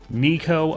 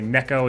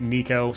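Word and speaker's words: Neeko: interesting next let's take a look at uh Nico apparently is how it's pronounced I like say Neko is a Neko the gecko but I'll try to remember to say Nico so first star power Harmony of the wild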